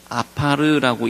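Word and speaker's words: עפר: 티끌이라는 단어가 아파르라고 읽히는 단어입니다. 아파르.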